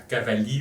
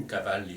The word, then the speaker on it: Cavalli: Voilà, donc je vais passer à à Cavalli ou Cavalli, selon qu'on le prononce d'une manière ou d'une autre.